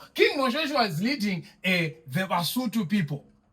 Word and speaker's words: Basotho: So King Moshoeshoe was leading the Basotho people. Right? But we pronounce it as the Basotho people.